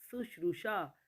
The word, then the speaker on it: शुश्रूषा: शुश्रूषा, शुश्रूषा। सु न होकर के शु होता है।